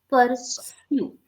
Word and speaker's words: pursue: Not shoe, sue, sir. Not sure, sir. Pursue, Pursue. sue, Pursue. sir. Pursue. No, you are still saying sure. It should be sir.